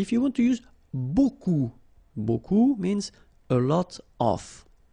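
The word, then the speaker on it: beaucoup: huh Buu like that remember you don't pronounce the final P okay and then you get this combination of vowels uh a u and you get the sound o so technically it's okay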